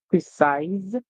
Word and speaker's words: precise: mean we have eyes precise remember when C comes before e i or Y we hear song like s so yes I when